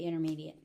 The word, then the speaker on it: intermediate: If I'm putting stress on it, yes, I'm going to pronounce that T. If I'm speaking normally, I'm going to say intermediate.